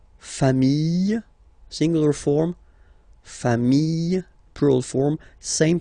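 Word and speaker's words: familles: Final S not pronounced fami singular form fami plural form same pronunciation s not pronounced.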